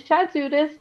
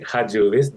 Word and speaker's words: Chatzudis: I am sitting down with Chatzudis. Did I say it right? Or no? It's actually Hadjudis, the C is silent, but I guess it's fine.